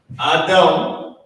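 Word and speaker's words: אדם: So Adam is the Hebrew pronunciation.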